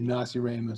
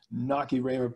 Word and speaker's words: Nacirema: Some people do say Nacirema, sometimes I do say it that way, but I noticed when I was looking at the Google YouTube subtitles, that is not the greatest pronunciation for the subtitle. So we'll go with the official Nacirema pronunciation and hope the subtitles work for us.